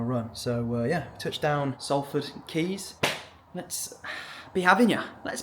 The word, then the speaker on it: Quays: We're over in Salford Quays is what I called it, but it's obviously pronounced Keys.